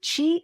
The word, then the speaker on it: qi: It's spelled ch hi or qi depending on where you're looking it up. So chi is life force energy.